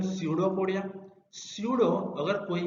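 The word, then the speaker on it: pseudopodia: Actually P is silent, सो उसको बोले कि हम स्यूडोपोडिया।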